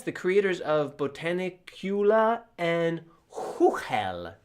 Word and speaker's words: Chuchel: Uh yes, the creators of Botanicula and Huhel, which is how the Czechs would pronounce it, which I know because I'm currently living in the Czech Republic. So it's not Chuchelle, it's Huhel.